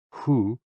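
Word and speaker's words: 呼: HOO, pronounced like hu, which is associated with the spleen.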